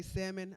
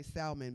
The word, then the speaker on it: salmon: to be wrong, because y'all say salmon, I say salmon, because it's the L in that motherfucker.